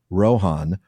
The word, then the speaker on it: Rohan: words and before t this sound was weakened to h in the speech of gondor and that change has been recognized in a few names such as rohan rohim because of course the real cinderin for that would be rohan and rohim but we are